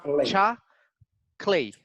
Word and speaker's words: chocolate: three syllables word so if you have the intonation at the beginning you eliminate the second sound so you don't you don't really need to pronounce the word choco no it's just chocolate chocolate chocolate right look